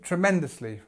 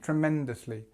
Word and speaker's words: tremendously: So the stress is on the second part, or the second syllable.